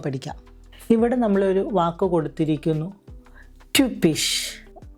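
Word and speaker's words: typisch: ഇവിടെ നമ്മളൊരു വാക്ക് കൊടുത്തിരിക്കുന്നു, ട്യൂപ്പിഷ്. യുപ്സിലോണിൻ്റെ ഉച്ചാരണം യു എന്നുള്ള രീതിയിൽ വേണം ഉച്ചരിക്കാൻ. ഉദാഹരണം ട്യൂപ്പിഷ്, ഹ്യുഗീനിഷ്, ട്യൂപ്പിഷ്, ഹ്യുഗീനിഷ്.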